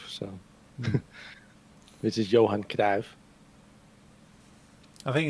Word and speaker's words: Johan Cruyff: So try and be respectful to the original pronunciation where we can. I've also heard John Cruyff, so which is Johan Cruyff.